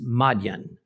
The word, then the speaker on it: Midian: Shepherd in a remote place called Midian but which is pronounced in more ancient times as Madan now since there is